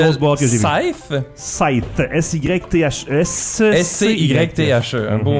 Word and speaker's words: Scythe: Scythe. Scythe. S-Y-T-H-E. S-C-Y-T-H-E. Un beau mot en bon français. Facile à prononcer pour tout le monde, hein?